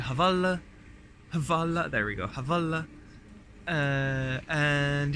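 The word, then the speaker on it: Hvala: So I said the only Croatian word I know so far, which is Havala, that's it, Havala.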